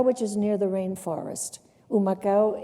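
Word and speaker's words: Humacao: Rico this was in oh macha oh macha which is near the rainforest ooh my cow is begins with an H which is silent in Spanish and what motivated you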